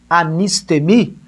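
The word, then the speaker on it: ἀνίστημι: porque ressuscite no grego anist temi pode anotar aí professor a n i s t e com acento no e mi se pronuncia na nossa fala portuguesa aqui anist aneme significa ficar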